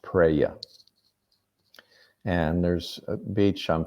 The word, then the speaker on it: praia: The word for beach, I believe, is pronounced praia.